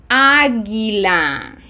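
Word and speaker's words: águila: The U is silent between G and I. Agila.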